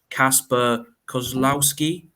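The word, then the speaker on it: Kacper Kozłowski: I mean, I'm probably going to butcher the pronunciation, but Kasper Kozlowski.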